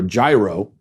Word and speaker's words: gyro: I think that's how he pronounced it, gyro, like with a Y. And I thought, is that? And then I looked it up and that's actually what I'm supposed to be saying. Gyro, not gyro.